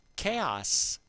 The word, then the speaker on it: Caos: your chaotic face because we are doing chaos which runs with rhymes with house mmm well kind of